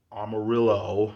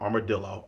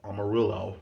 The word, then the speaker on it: Amarillo: gonna pronounce it correctly amarillo not armadillo amarillo hops ronald j terry